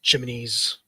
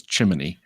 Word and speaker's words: chimney: I always tease John cuz he he's he pronounces chimney with a an extra syllable like like the Mary Poppins song. He says chiminy.